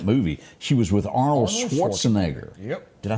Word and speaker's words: Schwarzenegger: attractive in that movie she was with Arnold Schwarzenegger yep did I say his name right that's